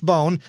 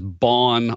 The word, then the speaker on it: Bohn: yeah let me bone boah n-not vo any way Jen yeah what what the heck kind of name is that that is a German name I get mispronounced as bond a lot job where I grew